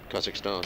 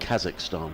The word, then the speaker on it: Kazakhstan: Kazakhstan. Kazakhstan.